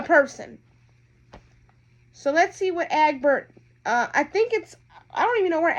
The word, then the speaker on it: Egbert: This is how you pronounce the dad's name. Listen. Egbert.